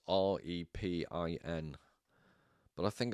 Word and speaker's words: Repin: So I believe it's pronounced Rypin. It's Repin.